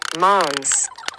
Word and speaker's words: Hmong: But the word Hmong, if pronounced correctly in Hmong, is a nasal word, Hmongs.